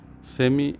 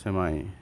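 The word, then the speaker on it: semi: সেমি বা সেমাই, তো দুটোই কারেক্ট। সেমি হচ্ছে ব্রিটিশ উচ্চারণ, সেমাই হচ্ছে আমেরিকান উচ্চারণ।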